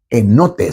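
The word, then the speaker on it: ἑνότης: e i s e cuyo verbo es enotes.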